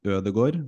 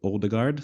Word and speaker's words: Ødegaard: And there's also another guy named Ødegaard, not Odegaard.